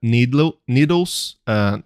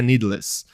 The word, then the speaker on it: Needless: A Última Casa da Rua Needles. Na verdade não é Needles, né? Eu pronunciei errado. Seria a pronúncia de inglês que é Needless.